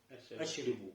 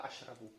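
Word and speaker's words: أشرب: Ашрибу. Ашрибу. Не ашрибу, а ашрабу. Здесь Ашрабу. опять ро берет фатху.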